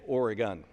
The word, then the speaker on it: Oregon: one minor point of we say oregon and since the ducks are going to win the national championship this year we want to make sure everybody knows how to say it properly thank you i rise